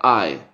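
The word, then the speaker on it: eye: inglés se escribe y como le dijeron siempre se pronuncia ay sí el diptongo i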